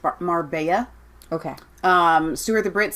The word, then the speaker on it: Marbella: pocket so uh grandpas assess Leah Marbella is pronounced Marbella okay sooner the Brit says that's mr.